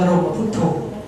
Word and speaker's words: บรมพุทโธ: ก็ จะ บอก ว่า ต้อง อ่าน ว่า บ บรมพุทโธ นะ เ่อ ก็ เล่า ความ